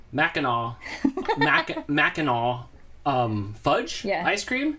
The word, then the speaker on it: Mackinac: Mackinac.